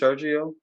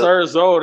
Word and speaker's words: Serzo: You say his name is Sergio? Nah, the Serzo, that's Richardson.